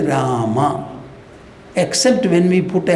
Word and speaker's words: Rama: In Hindi, so you say Ram. In Sanskrit, we will say Rama.